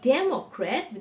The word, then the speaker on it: democrat: the one that was democrat the day the accent on day now the accent has